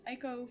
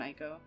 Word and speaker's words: ICO: to be doing um eeko first some people like to argue with me about the pronunciation of that um for me it's always been IO so we're going to